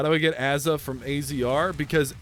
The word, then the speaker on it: AZR: how do I get Aza from azr because Aza is how they pronounce it in Australia you dumbass automatic going